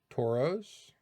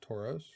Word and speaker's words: Tauros: Tauros. Tauros. I don't say it any other way. It's just Tauros.